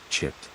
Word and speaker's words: citta: be preferred to use the Pali term citta, pronounced chit.